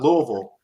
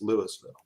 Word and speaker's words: Louisville: it will correct you it's not louisville in georgia either it's louisville that's right that's right